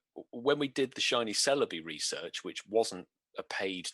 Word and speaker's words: Celebi: You know, I like the Celebi. I pronounced it right that time.